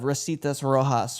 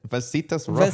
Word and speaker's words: Vasitas Rojas: does verse 2 of Rositas Rojas for our... Man, butchered that. Did I say it right? Nope. What is it? Vasitas Rojas. Vasitas Rojas? I was close.